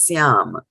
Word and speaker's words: syāma: dot in the bottom it's a plain simple s and it is to be pronounced as Siam right and what is